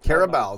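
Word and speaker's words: Carabao: first Chelsea in there how do you pronounce it care about or care about care about there you go I got it right sure you have care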